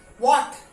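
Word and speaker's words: what: Okay, H में after W, डब्ल्यू के बाद जब भी एच हुआ है तो वहां पे एच साइलेंट है। वॉट, okay, here it is silent. वॉट, when, Y, गॉट इट।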